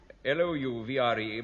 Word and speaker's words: Louvre: L-O-U-V-R-E, pronounced Louvre.